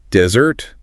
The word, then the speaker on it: desert: All right, let's tackle a pair that's all about spelling and crucially pronunciation. Yeah. Desert with one s and dessert with two s's.